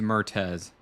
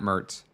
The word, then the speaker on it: Mertez: And it is Mertez, not Mertz.